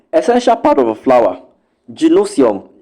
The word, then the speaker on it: gynoecium: Gynosium, which is spelled Gynoecium.